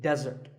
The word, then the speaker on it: desert: not be confused with desert here the stress is on the first syllable which is death desert